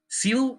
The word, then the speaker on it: Zeal: Seal rhymes with steel, which is how we viewed this pick.